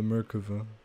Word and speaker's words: Merkava: fat bird cava actually slick it's called the Merkava you don't pronounce it like that don't you stop it you stop it all right I want to get out of here I'm leaving I'm leaving Merkava let me out let me out let me